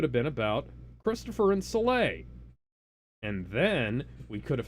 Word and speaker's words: Soleil: Soleil Belmont, that's how it's pronounced.